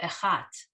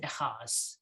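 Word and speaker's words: אחת: You guys, oh, echat, and he says echaz, echatz, or something.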